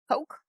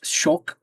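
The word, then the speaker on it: kök: It's spelled ko k. It is not poke. It's it's it's shulke shook because the the Swedish K is pronounced as like a ch and I it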